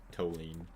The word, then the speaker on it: toluene: So that, okay, I'm gonna say toluene, T-O-E, toluene, instead of toluene, like T-U or T-W-O, toluene.